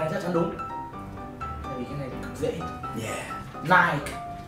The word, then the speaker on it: Nike: Nike. Nike. There's two syllables. Hai âm tiết mà. Nike.